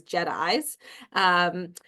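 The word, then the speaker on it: JITAI: And I'll start first just at a high level with just-in-time adaptive interventions and start very high with how we pronounce it, which is JEDIs.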